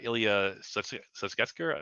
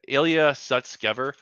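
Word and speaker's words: Ilya Sutskever: former co-founder actually the co-founder of openai uh Ilia Susker let me say his name right. Yeah. Ilia Sutskever.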